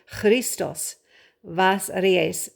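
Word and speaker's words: Христос Воскресе: b but it's actually christos vas aries the b is pronounced like a v and that x is like christos yep that means christ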